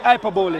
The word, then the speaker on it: hyperbole: You mean hyperbole.